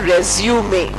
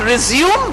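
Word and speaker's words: résumé: I tell my students, please pronounce not resume but resume. There is a small e at the end which is not there in the verb form. The noun form only has the e.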